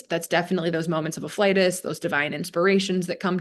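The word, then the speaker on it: afflatus: It's actually pronounced afflitus.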